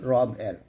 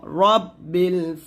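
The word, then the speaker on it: رب: আমি আশ্রয় চাচ্ছি সকালবেলা রবের অর্থাৎ প্রভাতে রবের নিকট আমরা কি চাচ্ছি আশ্রয় চাচ্ছি তো আমার সাথে আবার পড়েন কুল আউজুবি রব্বিল ফালাক রব্বিল ফালাক এখানে রা বলবেন না র রব্বিল ফালাক এরকম তারপর মিম নুন জের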